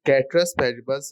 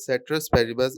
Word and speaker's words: ceteris paribus: It is ceteris paribus rather than ceteris paribus, as I was pronouncing it wrong in the whole video.